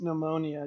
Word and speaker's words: pneumonia: pneumonia yeah and it's just and it's just pronounced pneumonia you don't pronounce the peace okay you don't